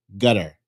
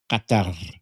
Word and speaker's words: Qatar: And it's actually closer to Qatar. Uh, you see what I did there? There's a rolling R at the end. And the first uh the first consonant is like a hard Q in your throat.